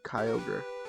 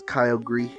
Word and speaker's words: Kyogre: for a shiny Kyogre Kyogre is one of those Pokemon names that I butchered all the time as a kid because I didn't recognize the words that it was made of so I was always reading it as Kyle gree Kyle gree thinking